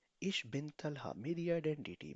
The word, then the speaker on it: ich bin: बिन, pronounce in me, इश बिन, ich bin इश बिन।